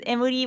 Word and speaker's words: Emuri: It's Emuri, but spelled with a W.